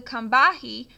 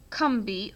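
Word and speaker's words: Combahee: raid to freed slaves from plantations along the kahi pronounced kbi oh I said that wrong I love how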